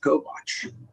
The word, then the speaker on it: Kovach: If I were a Slovak, I would pronounce it Kovach. Is that right?